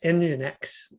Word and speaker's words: nginx: some servers use what's it's called nginx n n g i n x engine x it's said nginx it's spelled n g i and x that is a